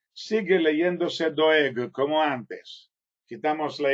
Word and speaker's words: Doeg: escrito el nombre de Doyeg, sigue leyéndose doeg como antes. Quitamos la y de medio, sigue leyéndose doeg, pero se escribe doyeg.